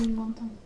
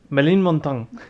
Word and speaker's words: Ménilmontant: Menilmontant. ¿Mm? Menilmontant. Ménilmontant. Bueno, ¿Cómo es? Menilmontant. Ménilmontant. Tu pronunciación es una ofensa al idioma francés.